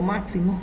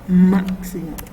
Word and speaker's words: máximo: Estas palabras, como se darán cuenta, se acentúan en la antepenúltima sílaba. Digamos, por ejemplo, máximo, esa es la antepenúltima, esa es la penúltima y esta es la última.